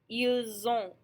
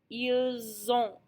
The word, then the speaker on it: ils ont: them together, it becomes ils ont. Ils ont. That S becomes a Z, and our on is still a nasal sound. We don't hear the T because it's all pronounced as one sound.